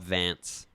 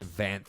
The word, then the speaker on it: Vanth: Oh yeah, you called him Cobb Vance. It's Cobb Vance. Vanth.